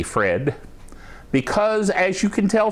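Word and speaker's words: Phred: By the way, his name is spelled P-H-R-E-D, Fred, because as you can tell from his comments, he's a very different fellow.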